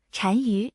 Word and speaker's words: 单于: 莫毒单于是西汉初年匈奴的